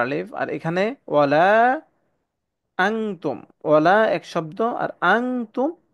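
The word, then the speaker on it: أَنتُمْ: তাহলে এটার হামদা নুন জবর আন হওয়ার কথা, আন তুম। কিন্তু এখানে যেহেতু তা ইকফার হরফ, তাই এখানে আনতুম হবে না, এখানে হবে আং তুম।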